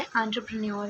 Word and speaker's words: entrepreneur: ठीक है गाइस, इसका सही प्रोनाउंसिएशन वैसे एंटरप्रेन्योर है।